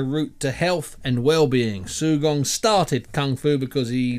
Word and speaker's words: Sugong: evening U first of all is that correct pronunciation sugong that is correct yeah okay just explain to